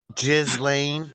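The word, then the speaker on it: Ghislaine: the um female version kind of like elain jiz Lane Maxwell jiz Lane the with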